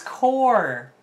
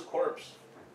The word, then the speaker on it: Corps: um guard quick shield okay whoa it's core how to actually pronounce our youtube name um 23. no i thought it was corpse like the husband should we sue him no why we're nexus quartz okay uh nurse is